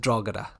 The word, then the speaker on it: Drogheda: we call a dragon we don't use the G or the H it's just it's strata